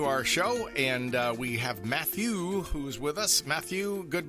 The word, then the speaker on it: Matthieu: We definitely are we pronouncing that correctly? Yeah, it's Ma2. But the real name is Matthieu, but no one can really say it correctly